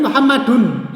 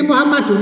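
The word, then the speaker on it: مُحَمَّدٌ: Ini kalau kita mengucapkan Muhammadun ya. Itu ada nunnya, nun sukunya, tapi di tulisan nggak ada nunnya. Jadi Muhammadun itu kalau diucapkan seperti ini Muhammadun, ya ada nun sukunya.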